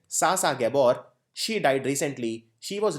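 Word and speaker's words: Zsa Zsa Gabor: Sasa Gabor, Z is silent. Sasa Gabor, she died recently.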